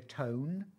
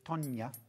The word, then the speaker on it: Tonya: Spent years calling her Tone. Tone? Tone, because that's how it's spelt, T-O-N-E. Yeah. But it's Tonya.